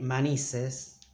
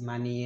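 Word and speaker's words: maníes: i say this because even native spanish spanish speakers say manises it's wrong the correct way to say it is money yes yes ending with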